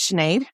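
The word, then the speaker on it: Sinead: was that like hi my name is chenade um I'm 33 years old my name is spelled s i n e a I know it's weird when I was 17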